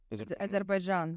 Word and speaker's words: Azerbaijan: Azerbaijan? Azerbaijan.